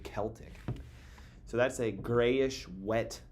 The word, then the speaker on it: Celtic: Celtic, some people say Celtic cuz it starts with the C, but I believe the actual pronunciation is Celtic with a K, Celtic.